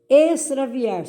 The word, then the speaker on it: extraviar: Extraviar, som de S.